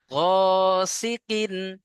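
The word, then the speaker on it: غاسقٍ: ওয়া ওয়ামি সাররি গাসিকিন ও is sequin, গাসাকিন সাকিন নয়, sequin.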